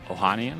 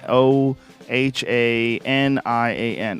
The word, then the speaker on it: Ohanian: how do you say the last name oh Ohanian I Ohan o h a n i a n Ohanian I get that is must be Alex